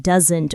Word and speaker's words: doesn't: For example, the T in don't is usually clear, but the S in doesn't almost disappears in fast speech. So it sounds like doesn't or doesn't, not do-asn't.